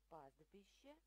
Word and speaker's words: пастбище: Пастбище. В этом слове прячется буковка Т, ее не слышно.